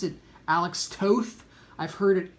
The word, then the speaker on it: Toth: Now, some people pronounce it Alex Toth. I've heard it pronounced Alex Toth, but I can't do that.